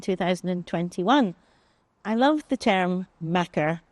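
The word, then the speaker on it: makar: my name is I was a Macker between 2016 and 2021 I love the term Macker it's spelled m a k a r and it's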